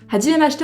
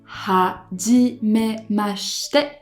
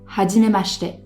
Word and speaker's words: はじめまして: Et en fait en japonais le I lorsqu'on a le S-H devient muet. Donc ça ferait hajimemashite et non pas hajimemashite.